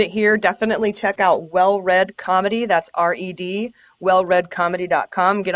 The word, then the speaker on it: Well Read: It's called Well Read Comedy, and it's spelled R-E-D. It's like Well Redneck. It's a pun.